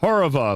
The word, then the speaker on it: Horova: It is in fact called Horova if I have that pronounced properly.